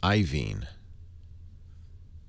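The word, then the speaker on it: Iovine: don't know table says yovine is pronounced iven i o v i n e you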